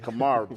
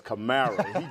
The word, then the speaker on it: Kamara: I said Kamara, but it's Kamara.